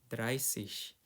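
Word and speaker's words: dreißig: Zibun 28 29 30 dryish. Di sini aku tekanin juga lagi untuk 30 belakangnya bukan sis tapi shish. Pakainya S ya lingkarin.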